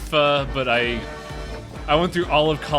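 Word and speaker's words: phở: And yeah, it's pronounced pho, but I went through all of college without anyone correcting me on its actual pronunciation.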